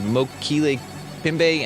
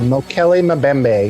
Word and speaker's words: Mokele Mbembe: A few things in here we didn't even touch on is the Mokele Pimbe. How do you say that? The I African think it's dino? Mokele Mbembe.